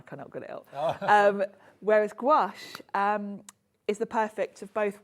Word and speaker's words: gouache: I say gouache, but actually, when you look at people on YouTube doing tutorials, everyone pronounces it differently. Okay. And it's a French name, so I would imagine it's probably pronounced differently in different parts of France as well.